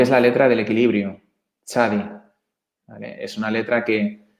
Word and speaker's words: tzadi: muy importante porque es la letra del equilibrio, tzadi. ¿Vale? Es una letra que supuestamente está detrás del equilibrio de todas las cosas, precisamente porque tzadi significa justicia, tzadik, mejor dicho.